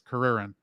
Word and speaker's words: Kuririn: Kuririn. Oh, okay. That's why it's spelled with the L's. Oh, okay. But the way Japanese pronounce it is Kuririn.